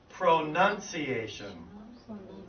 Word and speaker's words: pronunciation: this is really funny because this is spelled PR o and o you and CIA tion but and that would normally be pronunciation right but because of them but because of the structure of the word we actually say pronunciation Pro none like it I don't have I have none pronunciation ok would you repeat after